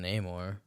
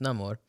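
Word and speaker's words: Namor: everyone's just always pronouncing Neymar okay you're right my bad no it's no more um because like especially because he literally said it's basically saying you know he has no love in Spanish no Amor no no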